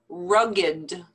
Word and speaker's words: rugged: these are not verbs these are actually adjectives so the pronunciation is a little bit different from the rule that we learned with the past tense verbs so listen to how